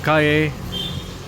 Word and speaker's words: calle: And this is called calle Crisologo. Calle is pronounced as in the Spanish word for road.